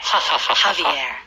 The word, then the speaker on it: Javier: Javier is spelled Javier. You know jalapenos? Yes. A lot of Korean people like jalapenos. Yeah. And that is also spelled with a J. So in Spanish, J is that sound.